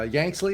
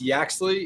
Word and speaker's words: Yaxley: us uh uh yanksley is that pronouncing that right very close mike okay give it to me better it's yaxley it's old dash means